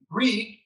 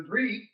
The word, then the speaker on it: Grieg: his name was Alexander Grieg, and they looked at EIG. Well, EI in Norwegian is pronounced like a long A. So they called him Alexander Grieg, and he didn't like that.